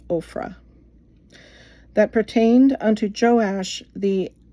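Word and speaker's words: Ophrah: And there came an angel of the Lord and sat under an oak which was in Oprah. Ofra, I believe that's pronounced Ofra.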